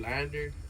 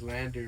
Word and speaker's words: LANDR: I mastered it through Lander, right? Which is funny because Lander, right, is spelled Landr.